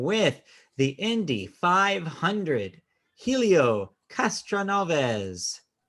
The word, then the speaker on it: Castroneves: the indie 500 helio castroneves did i pronounce that wrong castroneves okay you got that right helio aka spiderman oh